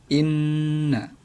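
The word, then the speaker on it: إنّ: Jadi huruf nun yang ada di sini bertasydid dan dibaca dengung. Nah, cara membacanya yakni dengan dengung. Nah, jadi membacanya inna, katakan menggunakan dengung.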